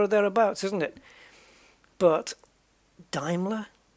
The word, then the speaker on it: Daimler: But the one that got me was Daimler. Because my whole life it was Daimler, Daimler, Daimler. And it's not. Apparently it's Daimler.